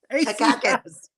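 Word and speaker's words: Takács: It's spelled T-A-K-A-C-K. Takakis. Like Michael Dukakis.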